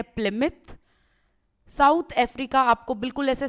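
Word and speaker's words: Plymouth: अब बहुत सारे लोग इसको प्लिमाउथ बोलते हैं, इसको बेसिकली प्रोनाउंसिएशन जो इसकी करेक्ट है वो है प्लिमिथ।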